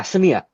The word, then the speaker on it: Samia: We got some love for Herb Smith, Madison, and how do you pronounce it? Is it Samia? Drew Samia? Yeah, Samia.